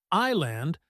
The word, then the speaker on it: island: But nope, it's simply island with the S completely silent.